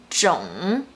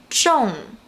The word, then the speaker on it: 种: For instance, as a noun, this character is pronounced as 种, 种. As a verb, it's pronounced as 种, 种.